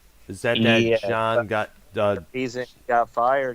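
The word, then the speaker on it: Jaan: this is huge news his first name is spelled j-a-a-n by chance yes John yes ah because I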